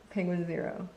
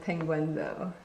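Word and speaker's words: Penguinz0: as Charlie from uh penguin zero not pronounced penguinzo I really wish it was pronounced penguinzo when I found out that that the one YouTube channel was pronounced penguin zero I was very sad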